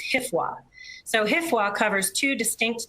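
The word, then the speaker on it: HFWA: pronunciation and i think the division is referring to this one as hifwa so hifwa covers two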